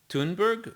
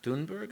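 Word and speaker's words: Thunberg: a society we are i mean gretathon tuneberg greta dunberg i believe is how you pronounce the name okay gets up in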